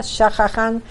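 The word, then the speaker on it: Shah Jahan: kumi es el príncipe el gobernante shahan se pronuncia shahan el que hizo el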